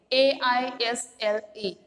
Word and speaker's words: aisle: But one by one, we must all file on through the narrow aisle of pain. AISLE. How to pronounce the word?